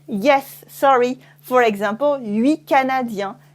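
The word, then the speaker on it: huit: 8, okay? So it's a pretty simple pronunciation, 8, except that it changes with la liaison.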